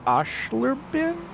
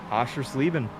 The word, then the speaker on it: Oschersleben: us talk about pizza rolls and how you pronounce Oshlerbin? Oschersleben.